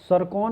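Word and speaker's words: Tsirkon: किस देश ने सरकॉन मिसाइल हाइपरसोनिक क्रूज मिसाइल का सफल परीक्षण किया है? सरकॉन हाइपरसोनिक मिसाइल का सफल परीक्षण किया है रूस ने। इसका नाम है टी साइलेंट है, QUN।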